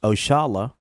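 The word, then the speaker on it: Oxalá: Oxala, pronounced Oshala, a commonly used term, is a direct descendant of a term we Muslims commonly use, Insha'Allah, means God willing.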